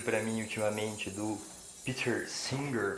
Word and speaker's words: Singer: mim ultimamente do peter singer como eu vi uma galera pronunciando também vi outras pessoas pronunciando singer e o particularmente prefiro singer porque a gente fica parecendo que é pedro cantora em português você que a gente